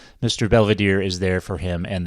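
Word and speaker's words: Belvedere: A frequent gag on the show involves Heather's airheaded best friend, Angela, who almost always mispronounces Mr. Belvadier's name. It's open Angela. Hi, Mr. Velvita. Hello, Angela. And it's Belvadier.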